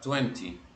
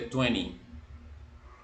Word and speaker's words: twenty: británico es común Escuchar Twenty pero en el inglés americano normalmente la segunda T no existe entonces uno dice Twenty Twenty twenty one twenty